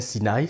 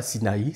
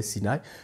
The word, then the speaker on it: Sinaï: va au Sinaï et vous entendez comment je prononce je dis bien Sinaï ce n'est pas Sinaï c'est Sinaï lorsque Moïse va au